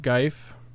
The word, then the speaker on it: GIF: It's pronounced Geif.